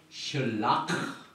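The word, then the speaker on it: שלח: 슐라크가 신 라메드, 이 뜻은 무슨 뜻이냐면은 엄청난 범죄를 저질러서 사형에 해당되는 죄를 말합니다. 그런데 그 죄의 끝에다가 카트, 이 카트라는 단어를 붙여가지고 슐락 이렇게 발음합니다.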